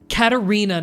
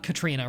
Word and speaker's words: Katarina: you enjoyed the stream katarina not Katrina right you're right Thank